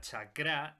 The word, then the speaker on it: chakra: se haya llamado la atención que diga chakra y no sacra que es como normalmente se pronuncia pero resulta que es una pronunciación incorrecta